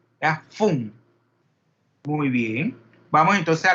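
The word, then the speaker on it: Pfund: Que lleva una F, una P y luego la F, Fum. Parece que son nombres escandinavos que muchas veces es un apellido, pero no es difícil de pronunciar, solamente no pronuncian la P. ¿Ya? Fum.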